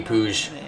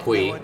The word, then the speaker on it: Puig: In America, we would just pronounce that Puig because of Yasiel Puig, the baseball player. But in Catalonia, apparently it's pronounced Puig. Puig.